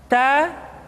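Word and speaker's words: ت: Tidak boleh membaca huruf Ta misalkan dengan menyentuhkan ujung lidah dengan gigi kita. Ta, ti, tu, bat. Itu kesalahan pertama. Yang kedua, nafasnya tidak mengalir. Bat, ta, bat. Mestinya ta, bat, tab, bat.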